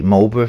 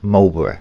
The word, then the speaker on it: Marlborough: And I do say Mulra for anybody across the pond in America. It is spelled Mulborra, not Mob. Not to upset any my American fleet members, but it is Malbor, not Mul.